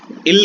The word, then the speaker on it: ils: Spelling इल्स है ILS, लेकिन बोला जाएगा सिर्फ इल।